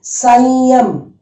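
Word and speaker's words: संयम: Here please listen to the pronunciation. There is lot of variation compared to what you read in these first three lines. Here there will be variation. Listen to my pronunciation. This is sa dot ya ma. Okay. Sa dot ya ma. It is Sanyam. Sanyam. Okay. Sanyam. You should know very well. Sanyam. The sound also will come from here. Sanyam. But then the pronunciation will be totally different.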